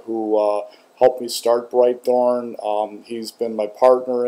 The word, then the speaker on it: Britethorn: of you are aware everybody mispronounces the name of my channel which is bright Thorn I hear Brit Thorn or Brit horn or bright horn lots of things like that but it's actually bright Thorn um so answer uh